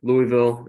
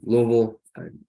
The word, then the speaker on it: Louisville: Yeah, Louisville. Some people say Louisville. I think I think we all say Louisville if you're from there. Yeah. So yeah, kind of starting your story about Louisville and then making your